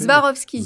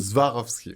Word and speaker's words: Swarovski: C'est Zwarovski. Swarovski.